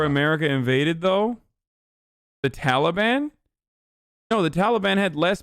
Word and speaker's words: Taliban: Stop pronouncing Taliban in Afghanistan like a white person. Taliban, Afghanistan. That's how I say it as a Turkish person.